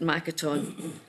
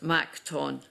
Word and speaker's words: Makaton: It used to be pronounced “Mak-ton”, but “Mak-a-ton” is how it is said nowadays.